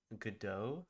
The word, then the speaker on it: Godot: I'll probably just be doing mostly a muted stream, but I will be learning how to code in Godot. I believe that's how you say it. Godot.